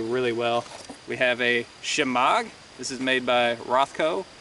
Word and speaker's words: shemagh: Now a lot of people have trouble pronouncing that word, shemaghs. They'll pronounce it shemaug, shamwow.